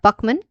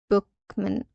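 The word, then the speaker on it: Buchman: Okay, so this person is our blank Buckman and Bookman. Okay, so this is a proper noun. So there can be multiple pronunciations of this uh officer name. All right. So let's go with Buckman here.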